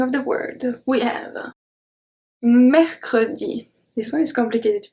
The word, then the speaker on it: mercredi: at the beginning of the word we have mechrodi this one is complicated to pronounce so here the uh are pronounced two